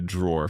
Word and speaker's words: drawer: Like I said, be careful because in British English, we don't pronounce the e at the end. We just say draw.